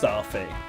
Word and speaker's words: Starfy: Like, when you write Staffy out in katakana, it will be Sutafi, which is definitely meant to be pronounced Starfy. Starfy. But to get that across in English, you're going to have to put the R in it.